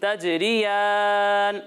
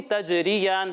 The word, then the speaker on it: تجريان: اور آپ تجریان کا تلفظ صحیح نہیں کر رہے ہو، اس میں آپ غلطیاں کر رہے ہو، ٹھیک ہے. تجریان، تجریان نہیں، ٹھیک ہے. اور یا کو موٹا بھی نہیں کرنا، ٹھیک ہے.